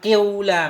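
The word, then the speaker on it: قِيلَ: Dalam kasrah qi tadi kita tambahin dhammah sedikit. Qiula. Kayak ada bunyi-bunyi waw itu.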